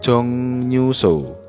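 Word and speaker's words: 정류소: dua artinya untuk gemyon jongnyuso gemyion artinya dilarang merokok jonguso tulisannya Jong ru huruf r harus dibaca n Nen karena sebelumnya huruf mati ieng bertemu dengan R dibaca n ni jonguso artinya halte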